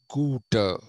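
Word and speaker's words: Goethe: like schiller shelling holderlin and guter g-o-e-t-h-e is pronounced guter in german they also have this influences of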